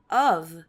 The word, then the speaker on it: of: Então, é o terror, daí a gente tem aqui um of é de, e a pronúncia de of é de, e a pronúncia de of é com som de V, tá?